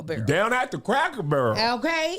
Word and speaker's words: Barrel: Down at the Cracker Barrel. Okay. That's how they say it in Kentucky, the Barrel. The Burl.